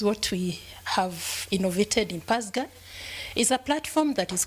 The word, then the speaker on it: PASGA: So a little bit about the partnership for African social and governance research in short PASGA.